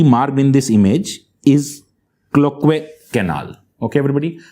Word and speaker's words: Cloquet: Now, the next structure that we see marked in this image is Cloquet canal. Okay, everybody? T is silent here, everybody. Cloquet canal.